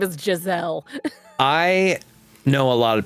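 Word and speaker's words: Jezal: Do they say Jazelle or Jezel or how do they pronounce it? Jazelle.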